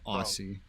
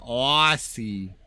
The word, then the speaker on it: Aussie: York all right well actually all Americans say Aussie I mean they may just not have as much of an awe sound as I do so Aussie if was he Mumsy